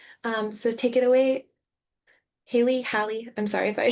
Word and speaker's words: Halie: Um, so take it away, Haley. Hi. I'm sorry if I mispronounced that. Haley.